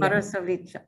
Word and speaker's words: Marasović: I'm going to guess that it's Marasović. That's pretty good. How do you say it? Marasović with ch in the Marasović.